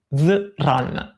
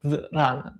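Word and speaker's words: 自然: pensiero taoista, che è si pronuncia Ziran, mi dice Beatrice, si scrive Ziran. Quindi Ziran o Zran, dipende da se la vogliamo pronunciare bene.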